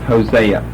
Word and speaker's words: Hosea: Okay, we're talking about this name that we would pronounce, that we know as English people as Hosea. Its Old Testament pronunciation is Hoshea.